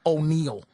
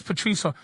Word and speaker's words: Patrice: don't know my name they they mispronounce it the girl calls me O'Neal right it says Patrice she goes oh yeah